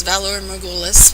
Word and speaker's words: Valar Morghulis: it's called valor megolis a lot of people seem to have trouble pronouncing that even though they say eight million times your style throughout the show but it's valor magoolus which is valerian for